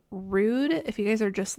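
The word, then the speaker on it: Rhude: a newer brand to me it is called Rude if you guys are just listening and not watching that's spelled RH u d e pretty decent self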